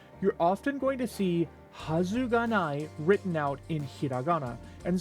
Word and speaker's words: はずがない: You're often going to see hazai written out in hiragana. And so sometimes when you see it, you might be tempted to pronounce it wazu ganai because you might be in the habit of